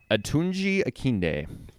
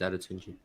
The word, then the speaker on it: Adetunji: The D could be silent. Who knows? It's Adetunji. I have a friend named Adetunji.